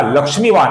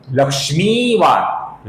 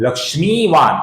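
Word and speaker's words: लक्ष्मीवान्: कुछ लोग इसका लक्ष्मीवान ऐसा ह्रस्व उच्चारण करते हैं, जो कि गलत होगा। इसका सही उच्चारण है लक्ष्मीवान, लक्ष्मीवान।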